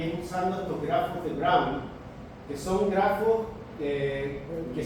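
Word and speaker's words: de Bruijn: Ah, no, porque según Camilo se pronuncia Brown. Brown.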